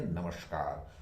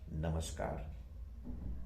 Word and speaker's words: नमस्कार: बोलना चाहते हैं तो अधिकतर लोग बोलते हैं नमस्कार। उसमें पता नहीं क्यों ज्यादा रेस्ट्रिकेसी आती है, या पता नहीं क्यों, लेकिन ये गलत उच्चारण है। सही उच्चारण होना चाहिए नमस्कार, नमस्कार और नमस्कार।